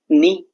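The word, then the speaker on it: know: के के बाद एन आ रहा है तो साइलेंट हो गया के नी के एन डबल ई नी साइलेंट हो गया के कि नहीं नी तो नहीं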